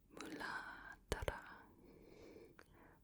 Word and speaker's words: Muladhara: It's spelled Muladhara. But it's more pronounced like Muladhara. I'm not very good at it because I'm still not sure if that RA at the end is a tapped RA or a regular RA.